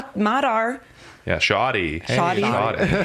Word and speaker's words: Matar: Matar. Okay. Yeah, they don't say Matar, like Mutar, I guess would be Matar, but they probably say like Mutar or something like that.